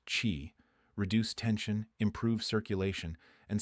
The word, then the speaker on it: qi: Pressing specific points along these meridians is believed to restore the flow of energy, called qi, pronounced chi, reduce tension, improve circulation, and signal the nervous system to calm down.